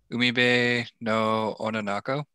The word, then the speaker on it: うみべの女の子: This week we read A Girl on the Shore, and I'm gonna invite Robert to pronounce the Japanese name, so I'll stop butchering these. Umibe no Ononoko.